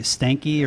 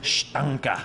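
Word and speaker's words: Steinke: Dustin, and I don't know if I'm saying his name, Stanky, or is it Stank? There's been a lot of debate about it. The actual correct pronunciation is Stanka.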